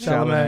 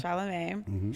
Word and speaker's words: Chalamet: Zendaya, Timothy, how do you say his Chalamet. name? Chalamet.